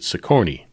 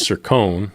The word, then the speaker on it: Sircone: And the lady in the phone pronounces it Siccone. Mine has the E at the end of it, and she pronounces it France. So his is Sircone, mine is Franzi, but yet somehow.